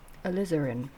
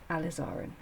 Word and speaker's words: alizarin: and Crimson um oh I said it right the other day lizin Crimson because a very clever lady on the comments said think about lizard um so you might